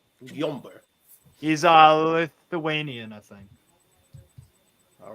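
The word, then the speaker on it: Gyömbér: That's a weird Steve, how do you pronounce this guy's name? Gyomber. Gyomber.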